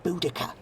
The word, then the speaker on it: Boudicca: It's pronounced Boudicca. Is it? It's not how it's written.